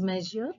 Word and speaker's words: Monsieur: Hamel, actually M, which stands for measure, it pronounces measure in French.